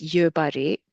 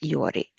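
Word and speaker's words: ཡོད་རེད: If you're trying to follow strict pronunciation, it's each syllable is yobare, but it's generally pronounced yori.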